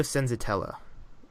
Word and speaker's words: Senzatela: It's Senzatela, damn it. I guess not. That's my stutter, not struggling to say the name. Senzatela. Yeah, no, you're saying that right.